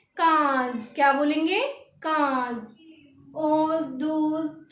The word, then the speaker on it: quinze: तो 15 को लिखेंगे QUINZE और इसकी प्रोनाउंसिएशन लिखेंगे KAYHNZ। क्या बोलेंगे हम इसे? काज।